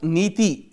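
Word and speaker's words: NITI: India IO that is policy Commission is a Government of India policy think-tank established by Prime Minister Narendra Modi after he's having dissolved the Planning Commission pronounced nathie meaning policy in Sanskrit the acronym stands for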